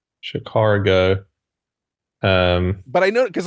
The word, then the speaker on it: Chicago: ah what you just you don't go R when you say CH car go um but I know